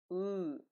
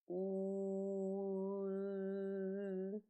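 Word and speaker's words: ы: Start saying exaggeratedly articulated letter u, and then, while still pronouncing it, change the shape of your lips so it looks like you're smiling. U. It should sound like this.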